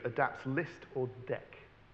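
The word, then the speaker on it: deque: but std q adapts list or deck. Is it pronounced deck, D-E-Q-U-E? Yeah, okay.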